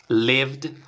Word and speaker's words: lived: pero en este caso está sonando con una d lived y en este caso